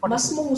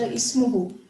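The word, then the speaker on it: اسمه: Not Masmuhu, Sati Chacha, Ismuhu. Ismuhu, very good.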